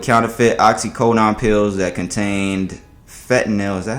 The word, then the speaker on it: fentanyl: Charges came down Wednesday against 28-year-old Cameron James Pettit, whom the feds allege supplied the rapper with counterfeit oxycodone pills that contained fentanyl.